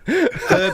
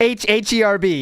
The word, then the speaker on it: herb: Herb is the one that gets me. Oh, yeah. Herb? H-E-R-B. Yes, go ahead. Herb. There is an H.